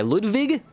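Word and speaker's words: Ludwig: sword was employed by Ludvig you got that German pronunciation the first huh first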